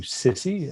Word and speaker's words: SSCI: SSCI, which is commonly abbreviated into SISI, just sort of a pronunciation, released a 1,000-page report.